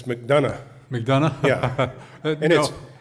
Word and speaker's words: McDonough: McDonough? Is it McDonough or McDonough? I thought you guys were from Joplin. It's McDonough.